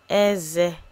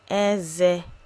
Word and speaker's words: Eze: Eze. Eze.